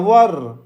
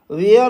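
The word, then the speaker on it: were: वर, वेयर और वर दोनों pronunciation होता है, तो आई के साथ वर का यूज करते हैं, ठीक है।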